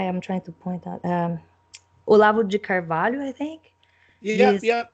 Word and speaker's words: Olavo de Carvalho: Yeah, you can pronounce it properly for me, but Olivo de Carvalho. Yeah, Olavo de Carvalho.